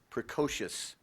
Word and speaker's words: precocious: Precocious. Van showed a precocious interest in politics by campaigning vigorously for room captain in first grade. Precocious. Precocious. Precocious. Precocious. That is correct. Rhymes with supercalifragilistic.